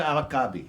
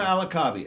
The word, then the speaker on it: Al-Kaabi: How do you pronounce her last name, which I could not even do? Fatima Al-Kaabi. Fatima Al-Kaabi, right? Ah, there you go. There we go. Fatima Al-Kaabi, and she is the subject of Left Behind